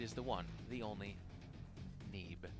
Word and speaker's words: Neeb: the one, the only, Neeb. Which backwards is Ben. Yeah. Isn't that weird how we pronounce it that way? I like that you reached for Bean, and it's like, no, it would be Ben.